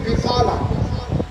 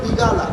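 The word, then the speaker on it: بقالة: হয় বিগালা বেলা বিগালা কফকে কাইনের মতো উচ্চারণ করে এখন মিশর ইয়েমেন মিশর সুরিয়া এই সমস্ত দেশে কফকে আর মতো উচ্চারণ করে বিকালা হলে বিয়ালা কি বলে বিয়ালা সৌদি আরব কফকে গাইনের মতো উচ্চারণ করে তারা কি বলে বিগালা তো শব্দ বিগালাও না বিয়ালাও না শব্দ কি বিকলা এখন মিশরিয়া সৌদি আরবে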